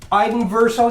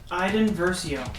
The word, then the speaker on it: Iden Versio: Iden Verso, did I say it right that time, Brady? Iden Versio.